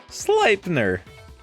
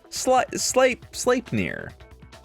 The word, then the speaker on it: Sleipnir: Oh, Loki was the female in the mating that produced Odin's horse, Sleipnir. Because I pronounced that correctly. Sleipnir.